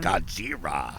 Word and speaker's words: Godzilla: godzilla versus kong playing godzira so that's how they say it that's how they say it in japan really godzira yeah all